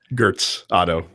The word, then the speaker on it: Götz Otto: Stamper, Richard Stamper, played by Götz Otto. Gertz Otto. You need to learn your German pronunciations.